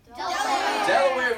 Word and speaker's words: Delaware: at the middle colonies this one rhymes with Tupperware that's the D Delaware for this one think